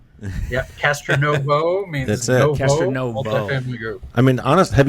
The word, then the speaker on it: Castronovo: about being Italian so definitely pronounce the o yeah Castro Novo means I mean honest